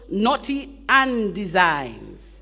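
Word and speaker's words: Knotty an Dezigns: Anna Reese she has a little business called Naughty and Designs naughty and designed and it's spelled k-n-o-t-y capital a n capital d e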